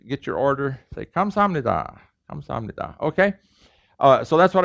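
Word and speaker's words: 습니다: your order they come samnita okay uh so that's what i wrote here is uh it's written it's pronounced this way but if you write it this way people are gonna laugh at you you know you pabo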